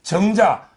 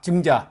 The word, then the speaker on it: 증자: 그다음에 그 정자 우리 그 공자 제자 있잖아요. 네, 정자. 증자. 예, 발음을 잘해야 됩니다.